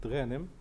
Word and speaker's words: Ghanem: Usually, I pronounce it Ghanem, but that's okay. Ghanem is fine.